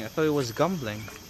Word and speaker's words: Gembleng: I thought it was gumbling like with a gu. It's gambling, but they pronounce it gum.